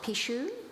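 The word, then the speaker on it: pixo: Eneri is a Pishadora, a practitioner of Pishu. Am I pronouncing that correctly?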